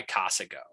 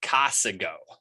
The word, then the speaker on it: Casago: brought to you by cosigo and we john you mean casago no i meant casago john that's not how you say it you gotta get our sponsor's name right man anyway as i